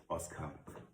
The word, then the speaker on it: Oscar: The Oscar. It's very similar to the English pronunciation, Oscar.